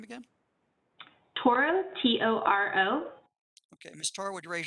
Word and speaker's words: Toro: how do you say your last name again toro t-o-r-o okay mistar would raise your right hand